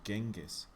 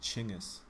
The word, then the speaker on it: Genghis: course i grew up thinking his name was genghis but it's actually pronounced chingus uh in general over here they'd call him